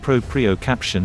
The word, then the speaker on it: proprioception: aware of your ankles proprioception is a long and fancy word pronounced propriocaption and it means being